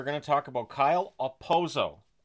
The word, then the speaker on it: Okposo: to talk about Kyle aoso the K is silent I'm going to apologize